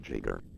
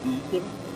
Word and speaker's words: Giger: Alright, maybe I mean, there's only one real true way to say his name. My name is Giger, HR Giger.